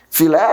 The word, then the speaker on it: filé: Filé, a minha última sílaba é pronunciada com mais força. Termina em E, leva o acento.